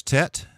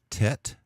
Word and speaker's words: Tet: of your throat yet then there's Tet which would pronounce like the T and ton Tet yodh and we'll use